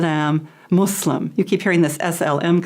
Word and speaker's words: Muslim: the partisan yeah so a Muslim not a Muslim or we have some a different pronunciations but the most correct is Islam and Muslim Muslim yeah we're and now